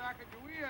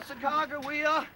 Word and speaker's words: Sacagawea: Sacagawea at today? Well, Sacagawea or Sacagawea, depending upon how you pronounce her name, is extremely popular right now.